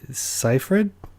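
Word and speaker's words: Seyfried: the main actress Amanda how's your last name pronounced uh safe Amanda's site ciphered how did you know that gosh that really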